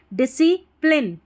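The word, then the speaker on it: discipline: तो लाइन आ जाएगा तो प्लाइन नहीं डिसी प्लिन पी एल आई एन ई प्लिन तो स्पेलिंग होगी डिसिप्लिन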